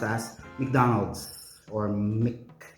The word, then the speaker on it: McDonald's: MacArthur right um but if it is MC native speakers would usually say Mick so this company or this product is actually correctly pronounced as McDonald's or Mick it's McDonald's okay something to learn